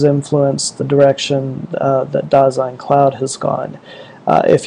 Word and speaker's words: Dasein: It's uh pronounced daine and and there isn't anybody who ever gets it right. It's actually a a term from uh from from German philosophy. So it's a German word.